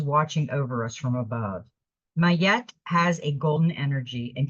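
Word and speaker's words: Ma'at: options and choose the highest good okay it's pronounced mayette it it's written in here with a Y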